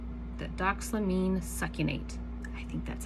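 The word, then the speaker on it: doxylamine: all that is is damine damine this one's really hard to say do damine succinate so I'm going to spell it just in case I'm not saying it correctly but it is d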